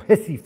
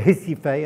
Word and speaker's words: Recife: One was Recife, or Recife, as they would say in Portuguese, because you don't pronounce the R, so it should be